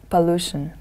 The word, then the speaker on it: pollution: in the second word the stress is on the second syllable pollution next word look at